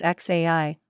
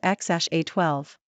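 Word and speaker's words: X Æ A-12: State Route 17 aircraft Grimes pronounces the name as X AI while musk pronounces it as X a12 the couple changed the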